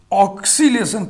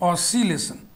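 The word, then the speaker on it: oscillation: ऑक्सीलेशन क पहले मत पढ़िए, क ही नहीं है, ऑसिलेशन उच्चारण में क नहीं है, ऑसी ओ सी ऑसिलेशन,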